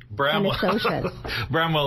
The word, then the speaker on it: Bramwell: And it actually is pronounced as you can read it.